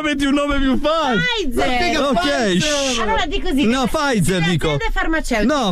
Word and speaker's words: Pfizer: Si pronuncia Pfizer. Pfizer. Non è Pfizer.